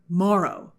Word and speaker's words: Morrow: So a new element is the Cyborg Morrow, as in tomorrow.